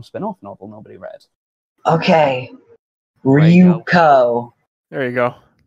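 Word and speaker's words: Ryūko: You said Ryoko. You said Ryoko. You said it wrong. Ryoko Fucking- is like fucking Junko Enoshima from Danganronpa. Spoilers for that one spin-off novel nobody read. Okay. Ryuko.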